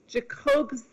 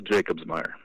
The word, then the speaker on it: Jacobsmeier: and his name is, and I hope I pronounce this correctly, JACOBS. Okay, help me out here. Last name is JACOBSMEIER.